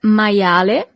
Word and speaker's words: maiale: You see, as we have seen with the alphabet, the letter I is pronounced as I, maia, and then the letter E at the end is always pronounced as E in Italian.